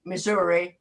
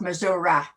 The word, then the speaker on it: Missouri: St. Louis is really and Missouri, not Missouri. Missouri, yeah. I would say Missouri.